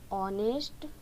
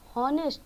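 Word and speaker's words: honest: तो ये तो है हॉनेस्ट, लेकिन यहाँ पे जो यच है वो साइलेंट है और यहाँ पे ओ से ये शुरू होता है इसकी उच्चारण, ठीक है, यानी ऑनेस्ट। तो इसलिए ओ जो है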